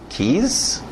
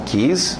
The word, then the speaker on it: keys: Você antigamente pronunciava, tentando ler o inglês, beijo, keys? Não, keys, na pronúncia, se você falar inglês, keys, chaves, ele vai me dar chaves?